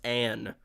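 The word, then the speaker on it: Alysanne: saying, how can it be pronounced Ain when it's spelled Alisan? It's two N's, it's Anne.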